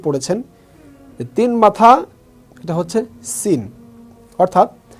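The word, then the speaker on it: س: ছোটবেলায় অনেকেই পড়েছেন তিন মাথা, এটা হচ্ছে সিন। অর্থাৎ সিনটা উচ্চারণ হবে সি, সি, সিন, ঠিক এভাবে।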